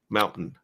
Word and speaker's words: Mountain: And you can tell I'm from Utah because I did not pronounce the T. Mountain.